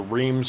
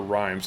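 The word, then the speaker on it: Reims: coronation is held in it's either reams or rhymes r-e-i-m-s i believe it's rhymes rhymes with rhymes um but charles is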